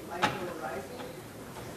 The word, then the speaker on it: mycorrhizae: So you mentioned mycorrhizae. Yes. How do you pronounce that?